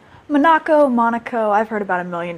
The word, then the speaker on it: Manaco: That's how you pronounce it? Manaco? Monaco.